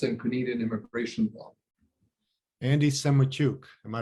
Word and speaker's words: Semotiuk: i do us and canadian immigration law andy semachuk am i pronouncing it correctly yeah with you andrei in